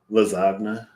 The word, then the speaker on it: lasagna: I was like no the silent G I like that the G and lasagna lasagna um those are not